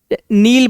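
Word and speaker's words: kneel: नील मतलब ऐसे नील पढ़ते हैं इसको, के साइलेंट है जामे, के पढ़ेंगे नहीं अपन, तो घुटनों के बल ऐसे बैठ जाते हैं ना, नील बोलते हैं।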